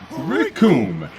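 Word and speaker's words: Recoome: to this man, because the name's Raccoon. It rhymes with doom.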